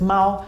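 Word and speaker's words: 猫: Basically, the child doesn't have to remember that the character is pronounced Mao.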